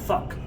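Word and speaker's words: phoque: In French, a seal is pronounced un fuck.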